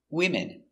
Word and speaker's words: women: woman one woman two women three women a lot of women remember no woman's no women's no s we change the pronunciation again one woman and three women let's look closer at